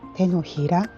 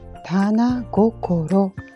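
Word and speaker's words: 掌: Chữ tượng hình này được gọi là "Tenohira" có thể là lòng bàn tay. Tôi phát hiện ra rằng nó cũng có thể được đọc là "Tana gokoro".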